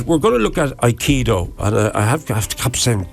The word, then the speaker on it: aikido: first of all the the word iido there's three three syllables I key and do uh I is the